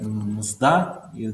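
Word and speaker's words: мзда: In Russian language, the mzda, this is old form of payment.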